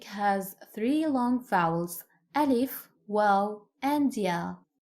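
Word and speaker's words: واو: Like alif, Arabic has three long vowels: alif, waw, and ya. Waw is pronounced like the double O in the English word boot, boot. Ooh. Round your mouth and extend your lips as much as you can.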